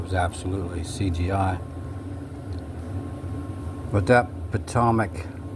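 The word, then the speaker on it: Potomac: absolutely CGI but that patomic or pamic however you want to pronounce it yes it kind of sounds like Atomic right there's a reason for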